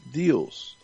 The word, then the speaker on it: Deus: Like Zeus, but Deus.